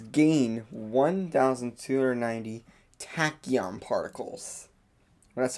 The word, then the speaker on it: tachyon: In place of the eternity button, it says gain 1,290 tachyon particles. Well, that's how I pronounce them.